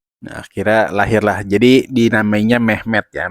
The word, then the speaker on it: Mehmed: Jadi dinamainya Mehmed ya. Mehmed itu ya seperti pelafalan Muhammad dalam bahasa Turki ya.